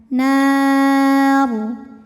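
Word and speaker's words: نار: Dan ketika berhenti ro ini disukunkan, dibacanya secara tafkhim. Kenapa? Karena sebelum ro yang disukunkan ada huruf berbaris fathah ya. Maka ro-nya tebal. Nar. Namun jika diteruskan ro-nya tarqiq karena barisnya kasroh.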